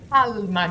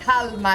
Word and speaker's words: calma: Calma, Gina, calma. No. Never mind. Okay. Whoa. Oh, wait, you pronounce the L in calm.